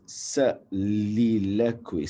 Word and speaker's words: soliloquy: So this is so although there is a O, we don't say it like soliloquy. Look at the spellings, right? Very funny. Soliloquy. You don't say it like that. It is soliloquy. Soliloquy. soliloquy, soliloquy, soliloquy, Soliloquy. Soliloquy. Soliloquy. So it goes like soliloquy.